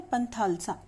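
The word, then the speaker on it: Panthalassa: इसका क्या प्रोनाउंसिएशन है, पंथालसा।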